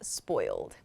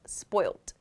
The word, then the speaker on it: spoiled: it as rotten rotten spoiled is pronounced as it is spelled spoiled you may also hear this word pronounced in british english and perhaps australian english as spoilt spoiled with a t